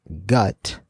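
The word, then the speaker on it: 굿: some word play here this word pronounced gut is a Korean traditional shaman ritual or exorcism it is also how the English word good is romanized in Hangul along with the previous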